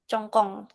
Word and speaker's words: 总共: Dengar bacanya tuh Hmm, kayak CONG, cong sama kong. Congkong. iya. Congkong, tapi tulisan Pakai C.